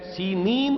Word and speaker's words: سینین: Sinai peninsula, صحرائے سینا، یہ ہے سینین اس کا تلفظ ہے، یہ جمع کا صیغہ آیا ہے، اور عبرانی میں اس کو سینین کہتے ہیں۔ عربی زبان میں یہ